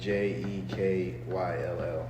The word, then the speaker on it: Jekyll: It's spelled Timacun, something like that. They're on Jekyll Island. Jekyll is Jekyll.